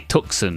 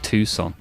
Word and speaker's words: Tucson: It can't be Tuxen, right? It's got to be more like Tucson.